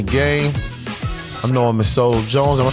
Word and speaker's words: Solo Jones: I know him as Solo Jones.